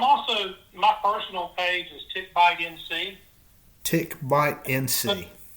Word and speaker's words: Ticbite: Yeah, I'm also, my personal page is Tick Bite NC. Tick Bite NC. There's no K in Tick Bite. That's just the way it's spelled.